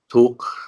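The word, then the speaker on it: dukkha: So they use tuk, that's how they say it, tuka, they spell it tuka, nirot, samotai, maga.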